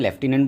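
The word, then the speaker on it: lieutenant: हिंदी में लेटिनेंट को क्या बोला जाता है? लेफ्टिनेंट बोला जाता है।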